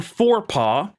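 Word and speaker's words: Forepaugh: Um even though it's spelled differently like that, spelled F O R E P A U G H.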